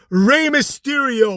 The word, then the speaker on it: Rey Mysterio: probably threaten his job he'd be like that's Rey Mysterio Michael Know Your Role say it like you're